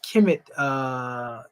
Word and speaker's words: Kemet: This is Kemet, Kemetu, because that's actually pronounced as a K.